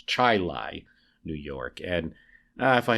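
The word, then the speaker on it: Chili: rules of pronunciation should be buena but it's pronounced buna it happens so it is chai lai new york that lincoln went to pass through and not chile new york as i had said sorry about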